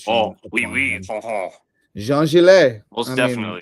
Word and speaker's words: Jean-Gilles: Jean-Gilles. J E A N {hyphen} G I L L E S. I'm I'm I'm bestowing the French pronunciation. Oh, oui oui. Uh-huh. Jean-Gilles.